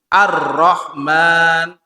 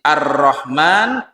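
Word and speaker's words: الرحمن: salah satu faedah nya tasdidnya RO di sini itu di situ Arrahman yang dimaksud adalah Allah subhanahu wa taala kemudian arrahim tasdid fauqor ro juga jadi Arrahman arrahim kalau digabung bismillahirrahman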